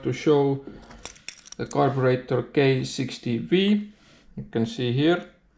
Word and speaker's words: K60B: And in this video I would like to show the carburetor K60V. You can see here it's written K60B but because it's in Russian then letter B is pronounced as letter V.